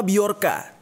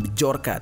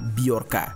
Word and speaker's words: Bjorka: hai hai Hai senyum nama biarkan tulisannya bhejo RK Ya seperti tulisan nama anaknya Agus Ringgo ini mana Kalau dibacanya bukan Bejo RKA tapi biarkan dia ini adalah seorang